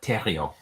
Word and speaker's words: Theriot: to Jean theriot uh you pronounce the T but not the H is Terio okay how are you